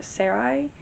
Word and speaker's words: Sarai: Laszlo or Sarai, I think is how you say her name.